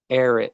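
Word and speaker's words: Ehret: cool what was his name please again Arnold air it and it's spelled e-h-r-e-t and he created a rational fasting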